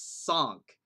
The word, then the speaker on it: cinq: But in French, which is where Don is from, it's sank. Apparently.